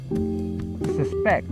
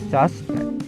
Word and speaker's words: suspect: Suspect, meaning to have an opinion. A suspect, meaning a person under suspicion. And if you look closely, having the stress on the last syllable depicts the word as a verb, while having the stress on the first syllable depicts the word as a noun.